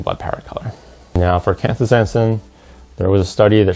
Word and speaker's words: canthaxanthin: best here, but I'll show you the proper pronunciation real quick. We'll get some help from Google. Canthaxanthin. Astaxanthin. So the first is Canthaxanthin, and the second is Astaxanthin.